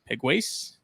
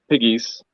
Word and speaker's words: Pegues: joined by Mr egways Piggies yes you told me that last time first time it's like the three little piggies that's how it's pronounced okay and it was